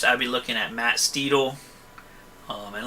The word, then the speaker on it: Steedle: There's a guy in New Jersey that's called Matt Steedle, and he has a company called Steedle Transmissions, and it's spelled like a steed, like S-T-E-D-L-E, like a Steedle.